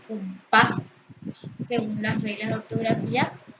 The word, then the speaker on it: compás: Se pronuncia con mayor intensidad la última sílaba compás. Según las reglas de ortografía, al terminar en S debe llevar tilde, compás.